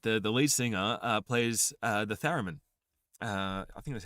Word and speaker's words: theremin: The Owen Guns, what's really cool about the Owen Guns is that the lead singer plays the theremin. I think that's how you pronounce it. Is it theremin?